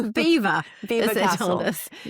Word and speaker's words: Belvoir: anywhere to the French, they decided to pronounce it their own way, so it's Belvoir. Belvoir as they told us.